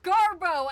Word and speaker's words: Gabbro: It is Garbo, and you can fight me on that one. There's no R.